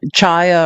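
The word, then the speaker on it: Chaya: The person that harass the orthodox Jewish woman, Chia or Haya Raichek, depending on how you pronounce her name, who terrorizes the LGBTQ, who is Charlie Kirk's best friend.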